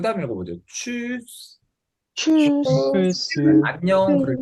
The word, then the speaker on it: tschüss: tschüss. Tschüss, 안녕 그럴 때 쓰는 말이고요. SCH는 아까 말했듯이 쉬 발음이 됩니다.